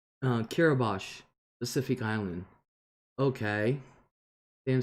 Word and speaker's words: Kiribati: Sarah said, Kiribati, pronounced Kiribati, Pacific Island.